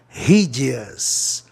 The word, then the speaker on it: hideous: Hide, vogal consoante é, hideous, palavra proparoxítona, terminado em OS. Ó, se eu pronunciasse hideous, né, ia ficar um pouco longa a palavra, né, de pronunciar. Então, hideous é mais rápido, dá para ouvir melhor, hideous.